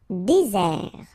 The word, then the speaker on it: désert: Désert. Okay, remember, final T not pronounced. Désert. And really this Z sound just because you get one S between the two vowels. Okay, Z. Désert.